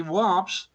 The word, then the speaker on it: Warp: In fact, the warps are solitons. How do you pronounce?